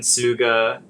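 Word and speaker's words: Tsuga: username is at suga.dan and Suga is the genus of Eastern Hemlock and it's spelled t is that what that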